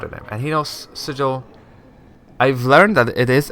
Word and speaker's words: sigil: for my whole life I pronounced this sigil and Sigel just sounds so weird so sigil it is uh he knows to